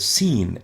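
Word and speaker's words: س: as well is and we call it scene as in scene seen is pronounced s scene s scene s the next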